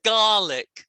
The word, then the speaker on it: garlic: colleague and one's garlic so ko is different from gar garlic colleague and i'm making my mouth more so you can see how you say it garlic and golly ick is different from egg the end of colleague is egg the end of garlic is ick yeah so colleague can